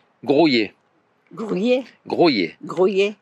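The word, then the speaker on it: Graulhet: dans le Tarn, à Grouillé. Grouillet. Grouillé. Grouillet. Moi, je disais Groslay, ça s'écrit Lhet, mais il dit que ça se dit Grouillé.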